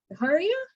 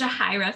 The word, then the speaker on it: Jahira: If I can clarify real quick, because I want to know, is it Jahira? Is that pronouncing it correctly? Yes, Jahira.